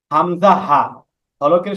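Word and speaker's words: همزة: গোল করি মাফরাজগুলো আসবে এরপরে হামজা হলকের শুরু হইতে হামজা হাকের শুরু হইতে কি হামজাহ হামজাহা সহজ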